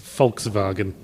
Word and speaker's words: Volkswagen: the way they pronounce Volkswagen. Because... See, it went to sleep. Because Germans pronounce their W's as V's, they're notorious for it. But did you know they also pronounce their V's as F's?